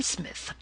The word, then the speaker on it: Psmith: I am Smith, said the old atonian reverently. There is a preliminary P before the name. This, however, is silent like the tomb.